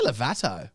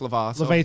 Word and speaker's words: Lovato: Did you say Levato? I know, I thought that. Lovato. Yeah, good there. What is it? Demi Lovato. Yeah, but- it's pronounced Lovato. Lovato, innit?